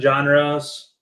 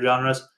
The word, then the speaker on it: genre: So now whenever I say genre, I always think of John, like I'm saying John's name, genre.